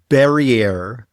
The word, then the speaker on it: Barriere: It's got a sophisticated name, Barriere, which rhymes with derriere.